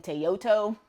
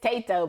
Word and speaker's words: Tato: I say his name wrong every time. I've been calling him Tayoto for a very long time. His name is Tato, because he's a potato.